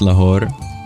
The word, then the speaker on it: Lahore: so close only steps away as it just pronounced La good to know thank you so used to